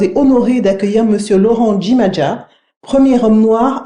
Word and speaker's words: Jimaja: C'est très bien, vous avez réussi à insister sur le J qui se prononce Djimadja. D'accord, Djimadja, parfait.